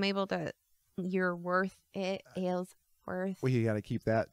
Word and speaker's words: Aylsworth: and so I'm able to you're worth it ale's worth well you gotta keep that going though I